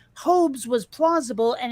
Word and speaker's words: Hobbes: when i asked my parents how do you pronounce that they said hobes not hobbes and it kind of made sense to me